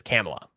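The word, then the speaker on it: Kamala: like Kam who they can't even pronounce kamla it's camela okay uh then you got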